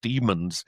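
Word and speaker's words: Dæmons: It's about uh a race of actually they pron it's spelled d ae did they looks like demons it's pronounced demons according to the book but of course it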